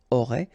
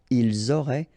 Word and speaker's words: auraient: Ils auraient, remember, ENT, you don't pronounce it, auraient, ils auraient, elles auraient.